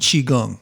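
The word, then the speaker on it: qigong: would I would look at are taichi and chiong so chiong is spelled Qi and then g n g chiong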